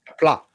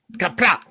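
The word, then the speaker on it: Qapla': That is not how you pronounce plot. All right. It's kapla. So you're mad that he Success. put the emphasis on the wrong syllable?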